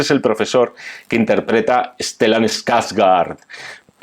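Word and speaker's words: Stellan Skarsgård: el profesor que interpreta stelan skaz gard pronunciado suec genial Esta es una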